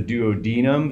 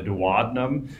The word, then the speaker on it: duodenum: the first uh section is either pronounce the duodenum which is how I pronounce it or the dadum which is the way some people pronounce it um and then there